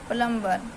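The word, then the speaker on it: plumber: आर बी ई आर प्लंबर तो प्लंबर में हमारा जो बी है साइलेंट लेटर है ऐसे सीओ एम बी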